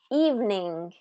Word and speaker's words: evening: How about this word? Evening, evening, evening.